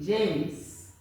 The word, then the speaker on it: James: okay very very simple this e is silent is not coming in okay then you listen